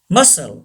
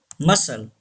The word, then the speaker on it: muscle: Muscle. Very common word. Muscle. Say this word. Muscle. C is silent.